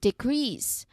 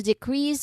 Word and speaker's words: decrease: Like for example, we need to decrease our spending this month. Okay? See how just changing the stress from the first syllable to the second gives us a completely different role in use.